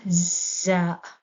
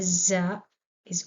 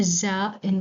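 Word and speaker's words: زاي: Za rhymes with ra, and it's also correct.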